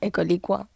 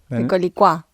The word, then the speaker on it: Ecolicua: A ver cómo lo pronunciaste. Ecolicua. No. Ecolicua. Ah, ahí va, ahora sí.